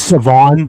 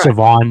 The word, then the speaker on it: Siobhan: It's Savon. The H is silence. Yeah, so it's Savon.